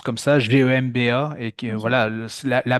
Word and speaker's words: Gemba: Et c'est vrai qu'il nous parlait notamment de cette pratique du lean management qui est le Gemba, je pense qu'on le prononce comme ça, Gemba, et que Ok.